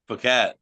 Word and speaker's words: Phuket: I told him I was like, it's pronounced Phuket. He goes, not when I'm there.